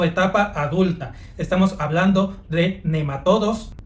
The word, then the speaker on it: nematodo: Aunque normalmente se escucha pronunciar las palabras como "nemátodos", "céstodos" y "tremátodos", lo cierto es que gramaticalmente si fueran palabras esdújulas deberían de llevar acento, pero como no lo poseen, la manera correcta de pronunciarlos es nematodo, cestodo y trematodo.